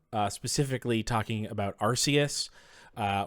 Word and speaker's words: Arceus: talking about Arceus uh where growing up everyone would tell me that it was Arceus and I've been hearing Arceus for my whole life but I always said Arceus and then I I found out that it actually it is officially Arceus even though they have also started in the U.S saying Arceus also um favorite Ultra